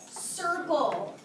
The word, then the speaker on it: circle: C-I-R, because the letter that softens C is an I. C-I-R-C-L-E, with a silent E at the end.